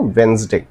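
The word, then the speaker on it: Wednesday: colonel sound like colonel वेडनेसडे लिखते हैं बट डी इज़ the middle is completely silent ठीक है डी जो है साइलेंट होता है तो हम कैसे बोलते हैं वेडनेसडे सटल लिखा जाता है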